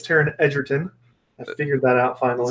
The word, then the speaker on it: Taron Egerton: video of Taron Egerton saying fun fact it's pronounced Taron Egerton the interviewer had just said introduce yourself Taron Egerton was like nope it's Taron Egerton the interviewer yeah I didn't know I didn't